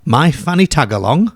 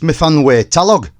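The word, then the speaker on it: Myfanwy Talog: My Fanny Tagalong? No, it's pronounced Mifanwe Talog.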